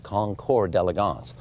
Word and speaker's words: Concours d'Elegance: hear the word and a lot of people mispronounce it but it is the Pebble Beach concore deligance what is a concore deligance well the Pebble